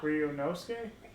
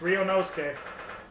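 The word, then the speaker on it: Ryunosuke: to a head now you can do it ryonosuke you have to ah are you nosey that's how you say it yeah all right i've been saying it's wrong it's rio nosque 23rd of february 12 30 p.m the old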